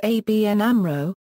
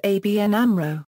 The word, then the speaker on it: ABN AMRO: make up the Amro the letters in ABN are pronounced separately and Amro is pronounced as a word for this reason some media spell the name as ABN Amro in written text both